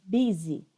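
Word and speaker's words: busy: vocês Oi tá dize Olha a pronúncia em gente be easy easy é quando tá muito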